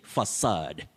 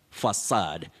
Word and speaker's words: facade: then the second word you say facade facade don't say aid no facade a facade remember one